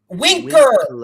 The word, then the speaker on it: Winker: name with the w say his name again i got a bbb you jesse winker there's no l winker what am i saying